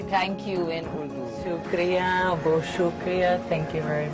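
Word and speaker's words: شکریہ: Shukriya, Bo Shukriya, thank you very much.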